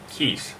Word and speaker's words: KAEES: supposed to be pronounced they told me to pronounce it as kiss as in Kiss okay K AE s